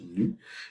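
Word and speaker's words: ν: Donc, la lettre que vous voyez ici, c'est comme un V stylisé, là, ça se prononce nu, et cette grandeur-là est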